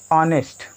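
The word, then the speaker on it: honest: यूज करना है, तो इसका उच्चारण देखेंगे तो क्या आएगा, ऑनेस्ट। यहाँ पर क्या आ रहा है, ऑनेस्ट, यच होते हुए भी आ का साउंड आ रहा है, इसीलिए स्वर हो गया।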